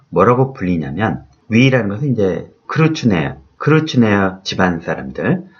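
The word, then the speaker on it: Kreutznaer: 그 집안 때문에 저는 로빈슨 크루츠네어라는 이름을 갖게 되었습니다. 여기서 크루츠네어는 독일식 성 같죠? 네, 독일 발음으로 하면 달라지겠지만 영어로는 크루츠네어 이렇게 되겠습니다.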